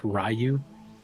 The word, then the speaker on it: Ryu: go or no that's Ryu sorry and has the red I was at the I haven't played Street Fighter in forever don't at me T I'm an American it's pronounced rayu okay it's I'm not